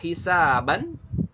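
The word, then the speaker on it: حسابا: Kemudian ada hisaban. Nah, hisaban, nah ini tanwin fathah nih ujungnya. Maka kita bisa rubah ya menjadi mad, tidak hisaban lagi tapi menjadi hisaba ketika waqaf.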